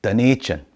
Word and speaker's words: Dunedin: Now, Dunedin is next, and it's a proper bagpipey Robert Burnsy jockety jock Scottish town. It's just that they pronounce the Gaelic word for Edinburgh wrong. It's Dunedin.